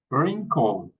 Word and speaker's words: wrinkle: Wrinkle. Wreck. Ren. Okay. Hey, we're going to to try to to pronounce this group of words.